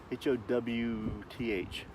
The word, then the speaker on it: Howth: H-O-W-T-H. Howth. Yeah, I don't get it neither, but that's the way they pronounce it.